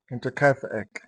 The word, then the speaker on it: Hinterkaifeck: A quick pronunciation guide. Say it with me. Inter ka. Intercafe.